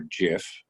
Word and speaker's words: GIF: can get it a gif or Jif that's how you pronounce it I'll let you investigate